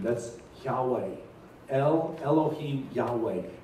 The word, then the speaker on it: Yahweh: do you pronounce that it's not really a pronounceable word it's more like a breath it's more like there's